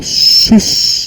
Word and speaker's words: sus: Primeiro, sus em latim, sus pronuncia-se mais ou menos como sus, né, com 2 S, porco ou porca.